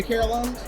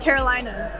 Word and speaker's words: Carolinas: Well, look, welcome to the Carolinas. Like, thank you. Wait, you mean you say Carolas? Carolinas.